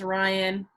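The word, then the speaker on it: Rian: Yep, I know my name sign's Rain, but it's spelled R-I-A-N. I know a lot of people get it wrong. It's pronounced Ryan, but because they mixed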